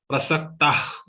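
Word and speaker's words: प्रसक्ताः: Prasaktah. Just release the air. Exhale the air. It will pronounce like kha. Prasaktah kamabhogeshu.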